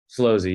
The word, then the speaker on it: Slozy: Is it Slozy or Slowzy? Slowzy, yeah. Okay, cool.